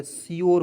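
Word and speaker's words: sure: देखिएगा एस का उच्चारण आधा स होता है और यू आर ई आया उसका उच्चारण योर के रूप में करेंगे, श्योर हो गया।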